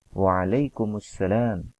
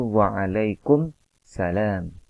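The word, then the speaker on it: وعليكم السلام: dengan asalan maka membacanya Waalaikumussalam banyak diantara kita yang ketika menjawab salam itu kurang tepat dalam melafalkannya yaitu wangalaikum salam Waalaikum salam di kurang tepat yang tepat adalah Waalaikumussalam wa'alaikumussalam warahmatullahi wabarakatuh kemudian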